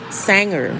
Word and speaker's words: Sanger: o m one word Sanger like sing but you're going to sang s a n g